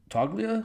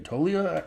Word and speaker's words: Toglia: you say his name toia I think I heard someone say that that the g is silent like Ain't Nothing But a G thing baby like a silent G but I don't know